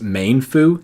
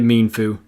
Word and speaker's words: Mienfoo: much simpler to pronounce Mienfoo this one also applies to mean shall bow as I the only one who pronounced this main foo this blew my mind sorry Mienfoo nincada where i come